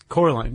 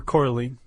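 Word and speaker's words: coralline: Probably that was called Coraline. Yeah. Okay. Or coralene, whichever. However you want to say it, Chuck.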